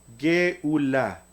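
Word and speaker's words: גאולה: Y una G al final de la palabra que como dijimos hace un rato es muda. Entonces la palabra redención en hebreo se pronuncia Geulá.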